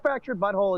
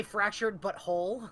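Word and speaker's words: The Fractured But Whole: I was gonna say, aren't you supposed to say fractured but whole?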